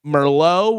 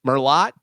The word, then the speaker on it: Merlot: Uh this one uh pronouncing Merllo with the T. Merlot.